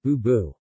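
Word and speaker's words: 不: In other cases, bu is pronounced with fourth tone.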